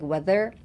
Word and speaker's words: whether: So put emphasis on the TH, the der ですね。Weather.